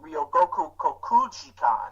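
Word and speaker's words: 両国国技館: It's actually pronounced Ryogoku Kokugikan.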